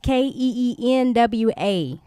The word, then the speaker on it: quinoa: Guys, not quinoa, not that it's pronounced Keenwa. So right.